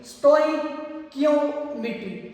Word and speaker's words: stoichiometry: और एक बात आप लोगों ने याद रखनी है, इसकी प्रोनाउंसिएशन आम लैंग्वेज में कुछ इस तरह होगी, स्टोइकियोमेट्री, स्टोइकियोमेट्री।